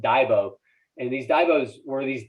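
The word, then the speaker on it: dagbog: these diaries uh it's spelled v-a-g-b-o-g but it's pronounced daibo and these divots were these daily diaries where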